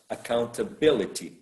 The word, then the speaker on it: accountability: account account accountability so there is a a shift of the stress in the word account account maybe the the the root might be count account is right the second syllable but accountability ability is probably the fourth syllable the one that is stressed okay um the word